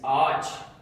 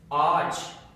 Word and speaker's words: ağaç: So, one word we have is ağaç, and this means tree. The purpose of yumuşak G is kind of to fuse these two vowels together.